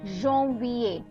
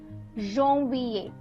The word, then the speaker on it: janvier: Next is janvier. Janvier. So the AN, wherever there is AN, I'm pronouncing it as on.